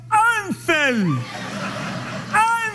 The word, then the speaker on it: Hansel: Pero a H no suena, sería Ansel. Ansel.